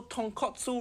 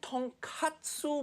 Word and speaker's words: tonkatsu: So tonkatsu ramen makes sense. It pork bone ramen. But katsu mean cutlet. So tonkatsu mean fried piece of pork.